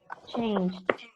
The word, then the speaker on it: changed: And a decision, we don't pronounce ed. We say change with d. Changed.